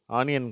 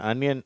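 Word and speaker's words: onion: lunch மணி month அனியன் இந்த வார்த்தை ஆனியன் கிடையாது அதை அனியன் அப்படின்னு சொல்லும் அடுத்த வரிசை பிளக் ட்ரக்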